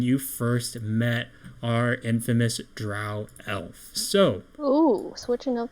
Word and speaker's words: Drow: However, just to reiterate, so when you guys fought the Dro elf, and I know it's supposed to be pronounced Drow, but I don't give a shit. It sounds lame, so I'm gonna say Dro.